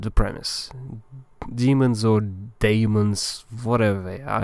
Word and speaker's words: daemons: Demons or daemons, whatever they are. I think it's just a spelling thing. They are pronounced as demons.